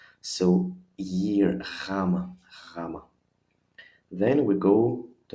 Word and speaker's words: gamma: in any Latin alphabet, though the pronunciation is not so challenging because it really sounds like a Y in year. If I smile, if I force a little bit of smile, year, my pronunciation is even better, even easier and clearer to Greek ears.